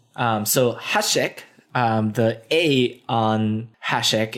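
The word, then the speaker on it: háček: do you like it the acute accent means that the vowel is long so Hasek the a on hash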